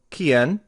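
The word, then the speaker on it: quién: and let's look one last time in the pronunciation of these words who is kien como those are your question words your preguntas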